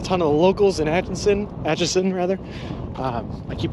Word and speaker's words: Atchison: I keep adding an N in there for some reason. It's Atchison, not Atchinson, but I want to keep calling it Atchison. It's Atchison. But there's a reason, because there's an Atchinson from Massachusetts, where I'm from, and I know that place. So I keep saying it wrong.